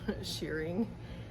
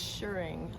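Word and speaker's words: shirring: was talking about shearing we're not shearing sheep around here it's sure I do know better I know how to pronounce the word but I've heard it wrong so many times that now I repeat it it's s-h-i-r-r-i-n-g sure assuring and also I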